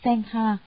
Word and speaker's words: Sangha: Tăng, nguyên là tăng già, tiếng Ấn Độ đọc là Sangha, dịch nghĩa ra chữ